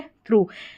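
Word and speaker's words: through: यहां पर हो गया थ्रू यानी ओ यू जी एच का उच्चारण उ करके आ रहा है।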